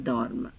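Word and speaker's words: dorment: And you pronounce the M here and V here. Il dorme, elle dorme, il serve, elle serve. Please note ENT always remains silent.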